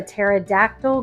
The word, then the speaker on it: pterodactyl: can't you hear a pterodactyl go to the bathroom because the p is silent okay so now that